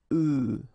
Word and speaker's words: œufs: And the tricky thing when we're talking about eggs is that if you listen carefully, the pronunciation is changing quite much, because for the singular form it's œuf, but then for the plural form here it's œufs, okay?